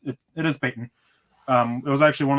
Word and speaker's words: Payton: real quick from brian badande he said it's pronounced patton not peyton uh no it's it is peyton um it was actually one of the first